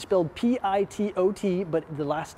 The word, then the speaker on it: pitot: pitot tube it's filled p i-- t-- o-- t but the last T is silent pitot tube get it right guys and this right here